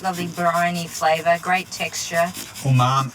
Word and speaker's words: umami: So the wakame seaweed has that lovely briny flavour, great texture, Umami.